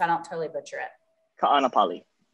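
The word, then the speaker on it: Kāʻanapali: don't totally butcher it ka'anapali it's tricky it's gotta pronounce every single vowel in there okay i can do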